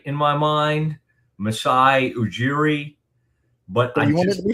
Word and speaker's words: Masai Ujiri: And like to somebody's eye, saying Jee, but I needed to see the words like Jeer, Jeer, or however you would say Jeer, but that's how you say it. Masai Ujiri.